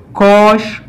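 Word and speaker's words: cosh: इसी तरह जो कॉज हाइपरबॉलिक एक्स है, इसको कोश प्रोनाउंस किया जाता है पाकिस्तान में।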